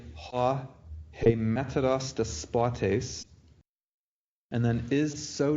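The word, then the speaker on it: ἡμέτερος: So you want to say hemeteros, and then you've made the you put the accent on hosta on the ultima. So you want to have the accent on the penult.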